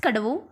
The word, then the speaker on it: Kadavu: so let's read on thailand of cadaver pronounced kadavu one of the larger island